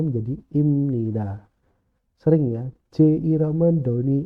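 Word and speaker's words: 입니다: jadi Eng contohnya ya ketika huruf ph atau b ketemu M atau n akan jadi m contoh tulisannya adalah ibnida bacanya jadi imnida habnida jadinya Hamnida abmun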